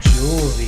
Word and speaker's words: Juhlzie: Juhlzie, that's how you say it. Juhlzie, like the jewel of the Nile.